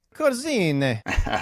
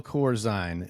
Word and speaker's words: Corzine: Italian and German so I think the Corine that that's Italian which probably is pronounced cor Italian okay uh but we we roll with it with the long eye with Corine Corine something like that Dale Corine is uh